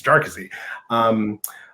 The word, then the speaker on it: Jarkesy: So there's a funny colloquy at the oral argument in the Supreme Court where the lawyer was, like, you people keep mispronouncing it, Jarkesy, right? So it's Jarkesy.